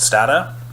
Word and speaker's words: Stata: overview and practice with a statistical software called Stata or Stata depending on how you want to pronounce it and they'll do lots of applied